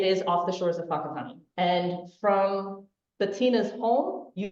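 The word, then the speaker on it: Whakatāne: Bettina lives in Aotearoa, and that other word, in case you're wondering how to say it, is Whakatane.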